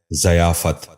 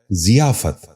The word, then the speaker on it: ضیافت: غور سے سنیے، ضیاء۔ آٹھواں لفظ ہے ضیافت۔ یہ غلط تلفظ ہے، درست تلفظ ہے ضیافت۔ دوبارہ سنیے، ضیافت۔ بچوں